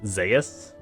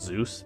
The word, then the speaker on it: Zeus: I was told his to pronounce his name as Zas not Zo Zeus it's supposed to be Zas which before that because